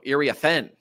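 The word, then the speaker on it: Iriafen: Well, we apparently had been saying her name wrong, according to Ryan Rucco and Rebecca Lobo. Ariafin.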